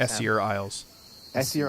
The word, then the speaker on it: Essear: Beyond to the iser Isles how do he pronounce that isier Isles thank you seirus I have sensed an